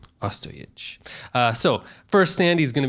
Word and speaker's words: Ostojić: Ostojić. Ostojić.